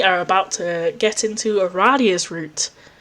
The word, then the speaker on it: Aradia: about to get into a radius route I apparently pronounced it right it is pronounced Aradia okay James Roach who